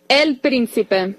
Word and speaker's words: El Príncipe: El Príncipe. El Príncipe. Don't you Americanize my L.